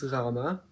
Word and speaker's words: gama: Same as in Greek, but also I know you might have heard gamma, but it's gama. This one's kind of hard to pronounce. So, it's like I can't really think of any instances in English where you would use a sound, but similar to how some people pronounce a G in Spanish words like in fuego or amigo or something like that. Or also, I guess you could just pretend to gargle with no water.